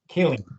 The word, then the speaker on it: Kileen: Is that how it's pronounced? Kileen. Kileen. Okay. But yeah, pretty darn close.